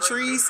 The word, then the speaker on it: Trice: But DJ Trice Trice is how uh it's pronounced.